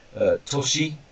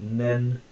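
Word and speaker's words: 年: Person barrier, so we different pronunciations. We've got toshi, so toshi, then we've got nen, so for example, 3 years is sanen, and so on.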